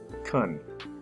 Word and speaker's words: can: more formal than can the word can can also be pronounced kun here three permission practice